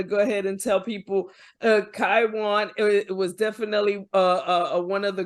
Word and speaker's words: Kywon: you say your name is it kiwan kaiwan say it right the second time so think of Taiwan with a K Kwan Taiwan oh yes